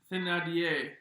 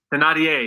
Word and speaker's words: Thénardier: Thénardier. Thénardier. Yeah, there you go. Thénardier. Thénardier. It's a character name that this person portrayed one time. Isla of Britain, hotel atrocity, and Thénardier, whose mustache, mouth, teeth, and nose does this belong to?